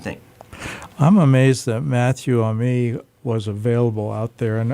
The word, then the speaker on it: Amy: Ami, Oh, it is. okay. Oh. It is. Because when you said you were from Louisiana, I was like, I wonder if it's like the French pronunciation.